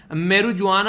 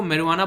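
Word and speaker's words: marijuana: भांग यानी कि मैरुआना, इसको बेसिकली मैरुजुआना आप लोग बोल सकते हैं प्रोनाउंसिएशन के तौर पर, वैसे इसको मैरुआना बोला जाता है, जो कि भांग बोलते हैं आप लोग, भांग धतूरा वो सारी चीज़ें।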